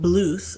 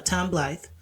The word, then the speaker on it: Blythe: So then you have Tom Bluth, or Blythe. No, Tom Blythe.